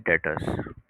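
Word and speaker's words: debtors: Pertaining to the cell of inventory are called trade डेटर्स। Trade डेटर्स डेप्टर्स कहते हैं डेप्टर्स पढ़ लो, डेटर्स पढ़ लो। B silent है यहां पर।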